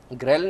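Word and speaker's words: ghrelin: ग्रेलिन नाम का, या रेलिन जिसको प्रोनाउंस किया जाता है, एक हार्मोन रिलीज़ करती है, इसको हम कहते हैं डेविल हार्मोन।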